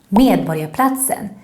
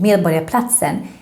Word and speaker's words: Medborgarplatsen: Remember, in Swedish, when we have the combination RG, then we pronounce it a little bit like the English Y. So it should sound like borg and not borg.